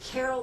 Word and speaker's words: Ceryl: And he spells his name Ceryl. So if you hear me hesitate, I just don't think it should be Carol that way, but that's how it's pronounced.